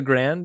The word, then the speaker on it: Grande: Is it pronounced the Grand, even though it's spelled the Grande? They call it is pronounced the Grand. Like that did put me off. Like when he kept calling it the Grand, when it's like it says Grande, but again, it's I don't know.